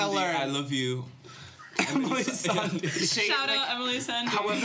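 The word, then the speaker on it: Emeli Sandé: Emeli Sandy. Shout out Emeli Sarnie. However, I Is her name realised- actually pronounced that way? I thought it was Emeli Sande. Yeah, Yeah, okay. yeah. Emeli Sande.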